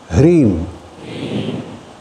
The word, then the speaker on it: Hreem: forget it and you know exactly how to pronounce it. Shall we? Om. Hreem. H-R-E-E-M.